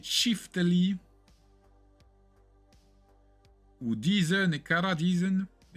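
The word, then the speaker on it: çifteli: Prononcé Chiftali ou Dizen et Kara Dizen est un instrument de musique du Kosovo et de l'Albanie.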